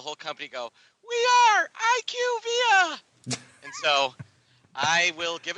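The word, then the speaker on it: IQVIA: and found out that they're called IQ via that is nowhere near that is nowhere near is fun iqv doesn't even make sense you can't pronounce the first two letters and then the rest of the word gentically that's not how it works but that that's what it is it is IQ via they literally had the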